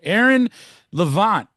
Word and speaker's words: Levant: Aaron Levant is in the building. That's how we say it, right? Is that did I pronounce the name Right.